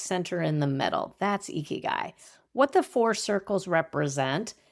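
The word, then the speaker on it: ikigai: It is a Japanese word named eeky guy. I'll spell it for you if it's new for you.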